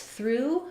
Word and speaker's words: through: This through is the same as the past tense, I threw the ball. And sometimes you see through misspelled like this, like in drive through, for example. Basically, even though we have OUGH, which can be or ah or ow in different words, in through, it's the oo sound.